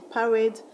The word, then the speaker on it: parade: In parade, the syllable you're going to stress is wade.